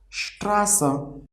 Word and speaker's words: Straße: Another example, Straße. See here we are pronouncing S as sh.